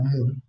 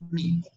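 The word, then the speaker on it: μ: la letra M griega, hay muchos que les gusta pronunciarla como mu, pero es mi.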